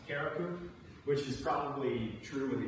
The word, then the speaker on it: Carriacou: The island is Carriacou. It's just north of the main island of Grenada. And some people are saying it's pronounced Carriacou, which is probably true with the accent.